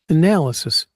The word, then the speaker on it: analysis: we'll get into it analysis is B analysis second syllable excuse me two it's one two Sorry.